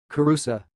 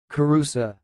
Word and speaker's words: Kirusa: of this word is sounds like Caruso karosa I will repeat karosa karosa that's all thanks